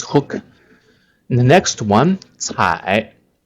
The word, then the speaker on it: 采: So the left part is 目, the right part 采. The right part pronounces like 采, also 采.